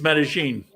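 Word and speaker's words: Medellín: I see a struggle trying to pronounce whether it's Medellin or Medellin. But when you're in Colombia, it's Medellin.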